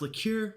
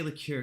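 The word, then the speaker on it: liqueur: Like, I've heard it pronounced lure. Lour um, liquor. I I I try to always say lure because I think that's like I've heard bartenders say it that way.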